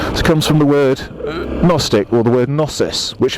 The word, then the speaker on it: gnostic: front of agnostic yes you've got the silent G it makes it AG Gnostic if the atheist and